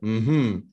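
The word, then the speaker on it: mmhmm: alors M MH mm c'est censé se prononcer hm hm alors en fait il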